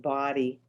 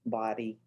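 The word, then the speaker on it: BODi: you'll see bot eyes so that's there it's pronounced body it says here pronounce body pronounce body oh good okay because everybody is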